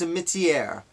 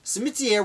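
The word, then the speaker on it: Simitière: I believe it's pronounced Cimetière, with that French kind of twist. So, Cimetière was born, again, in, as I said, Switzerland, but he would come to the United States.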